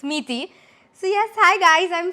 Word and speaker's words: Miti: my pronunciation correct because the spelling is such that everyone thinks it's a different pronunciation but it's meaty so yes hi guys